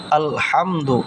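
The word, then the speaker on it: الحمد: আলহামদুলিল্লাহি আলহামদু। আল এখানে বড় হা হা উচ্চারণ হবে আলহামদু এখানে এই যে আল আলহামদু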